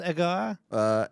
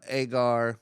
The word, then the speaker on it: Egar: Is it pronounced Egar? Agar.